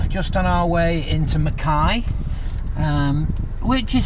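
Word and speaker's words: Mackay: So, we're now just on our way into Mai. Um, which is spelled McKay. Um, just saying, but it's pronounced Mai.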